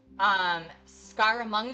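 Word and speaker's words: Scaramanga: Scaramunga's Island?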